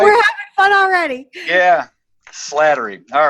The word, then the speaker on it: Slattery: i got it right here's flattery what's that it's slattery flattery i got it wrong all right i haven't have whatever anyhow right we're having fun already yeah slattery all right um welcome